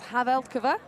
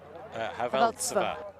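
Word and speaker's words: Havelcová: I think that's Havelkova. Havelchova even? Tsva. Tsva. Yeah, Haveltsova. Haveltsova.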